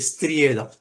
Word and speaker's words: ஸ்திரீயே: அது சரியான மொழி பெயர்ப்பு இஸ்திரியேதான் இஸ்திரி போடுறோம் அதான் சரியான சரியான உச்சரிப்பு இஸ்திரியே அப்படிா சொல்றோம் அதனால அவர் வந்து அம்மாவ